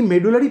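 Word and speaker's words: medulla: আর এই মেডুলারি পিরামিডসগুলোকে একসাথে আমরা কি বলি স্যার? মেডুলা, মেডালা, ঠিক আছে? অনেকে এটাকে মেডুলা বলে, এর অ্যাকচুয়াল প্রোনাউন্সিয়েশন হচ্ছে মেডালা, ঠিক আছে?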